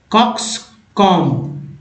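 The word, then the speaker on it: coxcomb: कॉक्स कॉम ब नहीं बोलेंगे, बी साइलेंट होता है।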